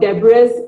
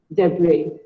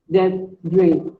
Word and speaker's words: debris: It is not debris or debris. It is pronounced as debris. Debris. The S is silent.